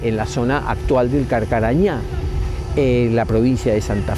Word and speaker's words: Carcarañá: también por los guaraníes ellos en su pronunciación que siempre acentúan la última La Última sílaba le llamaron carcarañá Y actualmente se llama así carcarañá hay un río pero